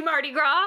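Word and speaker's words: Mardi Gras: it's the Marty gr which is the Marty gr not how you say it it's just Marty GR no I agree the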